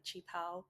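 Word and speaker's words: 旗袍: in Western culture it might be like a chi pao. That's how it's pronounced.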